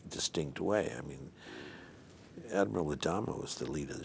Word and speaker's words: Adama: in any way but adama when you pronounce it correctly it's adama it's uh it's very latin and when i'll never